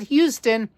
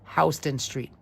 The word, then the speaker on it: Houston Street: Not Houston. If you people from Texas, you got your city of Houston, Texas, that's one thing. But here in Manhattan, here in New York, we pronounce it Houston Street.